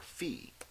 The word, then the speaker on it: phi: is our v value or fee I'm gonna try to be better about this I usually pronounced it with Phi so I'm just gonna go with Phi in class that's my pronunciation of this all right so this